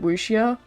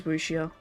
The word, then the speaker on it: wuxia: Is it wuxia? Yeah, when I put it in Google Translate and, like, have the Chinese, voice say it, that's how they say it. I'm pretty sure that's just... I'm pretty sure that's right. I've always heard it as wuxia.